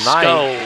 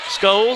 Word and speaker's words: Scholes: So we're going with Scholes. We're going with Scholes. Yeah. He hits them both. Scholes sounds like Cole.